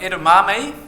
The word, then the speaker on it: Edamame: You pronounce it like Edamame. So if you get only one thing out of this talk, you now know how to pronounce Edamame.